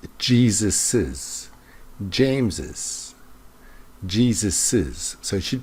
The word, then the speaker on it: Jesus's: and you want to show the possessive, it's pronounced Jesus's, James's, Jesus's.